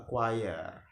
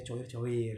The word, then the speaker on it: choir: Kayak grup paduan suara tepatnya ya, grup paduan suara disebutnya a choir. Jangan dibacanya coir-coir gitu ya.